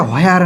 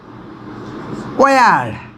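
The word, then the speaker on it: where: এটা হোয়ার না, ওয়ার, ওয়ার, ওয়ার, হ না কিন্তু, ওকে।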